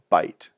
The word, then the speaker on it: byte: and put them together, that's called a byte. Sounds like a mouthful of food, but it's spelled with a Y, and it refers to 8 bits put together.